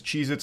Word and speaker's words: Cheez-It: Cheez-Its. I And I'm still saying it wrong. Cheez-Its never existed. They have always been Cheez-It, not plural.